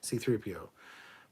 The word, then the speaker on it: C-3PO: That's his designation because there's a hyphen after the C before the 3, which means there's a C, pause, 3PO, C-3PO. But some people say it C-3PO, C-3PO, C-3P. Like, that's not how it's said in the movie either.